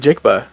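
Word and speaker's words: Njigba: And lately, Nick Jigbba, that's how you say his last name.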